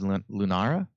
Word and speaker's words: Lunara: New Druid Hero, which is Lunara, I think you pronounce it, where you win 10 games in Standard.